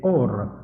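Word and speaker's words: אור: Pardon, on prononce pas le a, il y a pas de aim, c'est or tout court.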